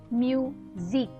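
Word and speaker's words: musique: Next is E, Q, U and E, which is pronounced as eek. All these letters together are pronounced as eek. Okay? So let us look. Music.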